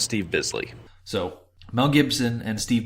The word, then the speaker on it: Steve Bisley: Quick note from the corrections department, it's pronounced Steve Bisley.